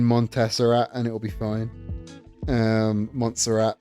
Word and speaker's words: Montserrat: Montserrat, that's how it's pronounced. I keep putting I put extra syllables into them.